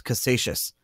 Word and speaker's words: Casascius: and he created the first physical Bitcoin correctly pronounced as Cassation if you've never heard of Cassation scorns before